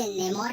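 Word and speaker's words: Namor: साथ ही कार्टून्स में इसके अलग अलग प्रोनाउंसिएशंस हैं। कोई इसे नेमोर कहते हैं, कोई इसे नमोर कहते हैं, कोई इसे नामोर कहता है। तो आप लोग अपनी कन्वीनियंस के अकॉर्डिंग इस वर्ड को ले सकते हैं।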